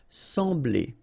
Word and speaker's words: sembler: So EM will give you the sound en. Okay, so you don't pronounce the M, you just get the sound en. Sembler, sembler. Okay, combination of B and L, ble, ble, sembler.